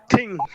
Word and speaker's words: think: But to give you an example, Liaquat, can you feel it when you pronounce thing? Your tongue touches the tooth. Sure, sir. Think.